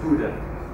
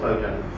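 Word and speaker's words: Bodø: This is called Stormen, and that's pronounced Bruder, it's not Bodan.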